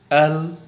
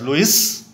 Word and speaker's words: Louis: The spelling is L-O-U-I-S, but it's not pronounced as Louis.